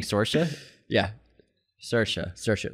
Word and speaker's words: Saoirse: So the way to remember to say Saoirse Ronan is it rhymes with inertia. So Saoirse.